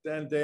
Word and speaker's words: Anodea: Is that correct, Anadea?